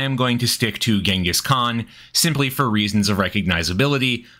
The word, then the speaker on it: Chinggis Khan: And by the way, I am reliably informed the actual Mongolian pronunciation is closer to Chinggis Khan, but I am going to stick to Genghis Khan, simply for reasons of recognizability.